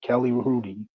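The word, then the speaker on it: Kelly Hrudey: course her uh Rudy with an H the H is silent ke Kelly Rudy the uh go tender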